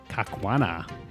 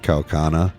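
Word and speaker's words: Kaukauna: a new home in kakana did I pronounce that right no how do I say it kaana probably kaana k spell it once for me k a u k a u n a kaana yeah would it wouldn't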